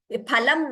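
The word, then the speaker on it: फलम्: Phalam in Sanskrit is phal in Hindi. Fa. That fa F sound is not there in Sanskrit.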